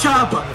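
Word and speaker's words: Chubb: bro it's not you it is chub it is Nick chub nothing else bro is that right bro yes go Flo bro somebody tackle Joseph Flo for the love of God like if this game was it would be spelled t h o o b it would not be spelled c h u BB flight but you see like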